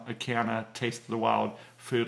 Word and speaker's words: Acana: Another brand that's made by the same company is called Acana, and I believe that's spelled A-C-A-N-A.